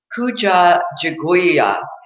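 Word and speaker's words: Kujichagulia: day is and the second day is the pronunciation of what it is December 27th is Kuja jag weeow and it means self-determination too present the second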